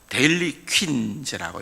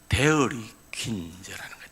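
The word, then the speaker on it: Dairy Queen: 크게 붉은데 흰 글씨로 데일리 퀸즈라고 이렇게 되어 있어요. 이제 데일리라고 발음하면 안 되고 사실은 데어리 퀸즈라는 거예요. 데어리라는 말은 이제 L이 아니고 R로 발음하는 거예요. R을 쓰는 거예요.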